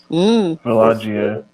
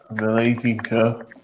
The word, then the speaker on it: Vallejo: Villaggio. Vallejo. Vallejo. I can say his name because it's like Spanish.